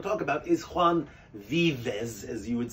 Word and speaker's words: Vives: it's VI ves but the V is pronounced like a B and an S so it's be best I'm confusing myself but